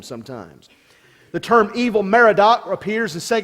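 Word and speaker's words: Evil-Merodach: Evil is not a translation of a Hebrew word meaning evil, but it represents in English letters the way a Jew would have pronounced the sounds of the Akkadian name Marduk.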